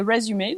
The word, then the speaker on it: résumé: Et pour CV, curriculum vitae, soit vous écrivez ça comme ça, mais vous prononcez résumé, donc ça s'écrit de la même manière.